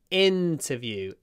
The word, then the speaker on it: interview: you open your mouth so it's not in but in interview I it open your mouth interview don't if your